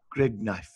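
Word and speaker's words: Gridneff: going for stupid money other the producer jenny grignuff that's uh that's how it's pronounced so there you go such as far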